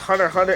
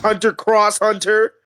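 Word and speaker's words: Hunter × Hunter: And please pronounce it Hunter Hunter and not 100 cross Hunter.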